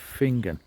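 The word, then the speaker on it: Finzean: a small village of finger now it's not spelled the way I've just pronounced it so I will put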